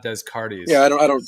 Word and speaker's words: Descartes: i hope somebody's just it's pronounced descartes it's not descartes yeah i don't i